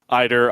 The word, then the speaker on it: Ider: say if you're listening Ider I know it's spelled like Adder we got corrected on the broadcast that is Ider so unless somebody tells